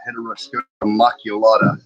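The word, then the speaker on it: Heteroscodra maculata: It's a common name, and it's a Heteroscoda maculata. Is how you say the scientific name.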